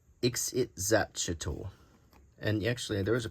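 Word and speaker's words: Ixitxachitl: It's pronounced Ixit-Zatchel.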